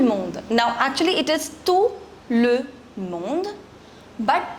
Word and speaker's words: tout le monde: Now actually it is tout le monde, but together it's pronounced as tout le monde.